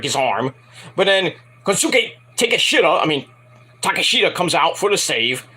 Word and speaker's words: Kosuke Takeshita: So Kosuke Takeshita, or Takeshita, it's Takeshita, that's how you pronounce it, it's Takeshita, not Takeshita, even though that's funny to say, but it's Takeshita, saves Brian Danielson from basically career-ending arm injury,